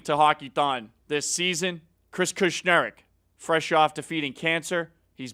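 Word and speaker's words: Kushneriuk: I'd like to say I'm a little disappointed in Bakersfield, but here's how we spell it. It's K-U-S-H-N-E-R-I-U-K. So there you have it. Chris Kushnerek coming back to Bakersfield.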